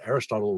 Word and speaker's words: Aristotle: The first time I mention Aristotle, I have a footnote that says Aristotle rhymes with Chipotle.